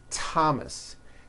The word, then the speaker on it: Thomas: spelled with a th they are pronounced as if they were spelled with a normal T TT like that and these words are Thomas Thompson Teresa Thailand TS